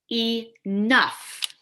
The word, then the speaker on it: enough: Also, that GH becomes an F sound.